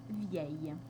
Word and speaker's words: vieille: ensuite il y a l'adjectif vieux qui a un féminin spécial où on va avoir le double l qui va également se prononcer ye vieux vieille et enfin le dernier